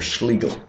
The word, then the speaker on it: Schlegel: a Raymond and Professor Richard schigel or Schlegel uh rhymes with legal okay so again this